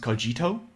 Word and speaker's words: cogito: i know it's it's actually supposed to be pronounced cogito but we're not we're not we're not that